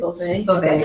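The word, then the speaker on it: Beauvais: Is it Bouvet? Bouvet.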